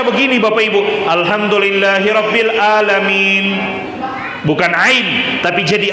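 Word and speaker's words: العالمين: Misalnya kalau dibaca alhamdulillahi rabbil a ain. Alhamdulillahi rabbil alamin.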